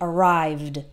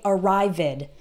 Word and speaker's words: arrived: this sound and we the e d sounds like d arrived arrived but we don't add an extra syllable so don't say arrived it okay that's not correct we only add an